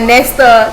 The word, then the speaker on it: Nestor: So guys, I am super duper excited today to be making this video with Kuya Nestor.